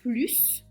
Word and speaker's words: plus: Et ensuite quand plus est un nom. Parler une langue étrangère n'est pas un plus, c'est une nécessité. 3 + 5 est ég 8. Donc là plus a un nom, donc on va prononcer le s.